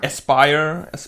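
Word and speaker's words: Aspyr: it's being done by how do you pronounce it asper aspire aspire yeah oh aspire actually that that that's actually a word that exists aspire okay yeah when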